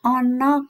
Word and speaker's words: ana: sekolahane ahmad karo nisa ono kantine nyanyi tulisan ana bacanya bukan anak tapi ono ono cantini saenggo ing wayah